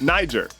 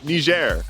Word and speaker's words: Niger: I am a native American English speaker, and in American English, it's Niger. But apparently locals say Niger.